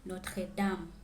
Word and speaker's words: Notre-Dame: Paris is known for its attractions, and here is how you pronounce them in French. La Tour Eiffel, le musée du Louvre, la Seine, la cathédrale Notre-Dame, Jardin du Luxembourg, Arc de Triomphe, Montmartre et Sacré-Cœur, Centre Pompidou.